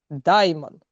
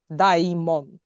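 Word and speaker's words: δαίμων: Даймон. Даймон, да? Ну, типу в такой в такій вимові.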